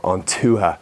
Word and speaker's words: Ontuha: And this is where the idea of Ontuha, the grid, was born. Now basically Ontuha, which is spelled Ontuha, O-N-T-H-O-O-H-A, is basically an old Irish word for the tribes.